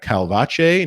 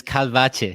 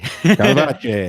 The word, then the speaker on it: Calvache: The pronunciation is Calvache. Calvache.